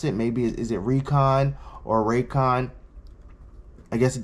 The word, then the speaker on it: Reekon: um so this is I'm gonna call it Recon I'm from Philly where we speak phonetically um you know we say we spelled almost like Reebok uh which is kind